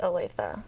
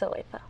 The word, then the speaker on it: Olathe: How is it pronounced? It is Olathe. I hear that a lot, though, different pronunciations. But yes, it's Olathe.